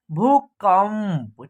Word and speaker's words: भूकंप: भूकंप देखिए भ है और भ में क्या है बड़ी उ की मात्रा का प्रयोग हुआ है ऐसे भू उसके बाद क और क के ऊपर क्या है अन की मात्रा है लेकिन इसका उच्चारण आधा म का होगा बिंदी का उच्चारण क्या होगा आधा म का होगा उसके बाद प है तो इसका उच्चारण हो जाएगा आपका भूकंप ठीक है देखिए खुशबू ख